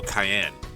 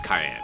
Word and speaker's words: Kiane: It looks like Kiane, but it's actually pronounced like Caney, the pepper, or Cheyenne, Wyoming, without the H in the Wyoming. Or Cayenne. Okay, so it's Cayenne, got it.